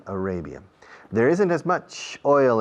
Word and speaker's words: Arabia: Fijaos en la pronunciación de Arabia. Array. Saudi Arabia.